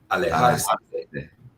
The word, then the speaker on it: alejarse de: How's my pronunciation on that? Alejarse de.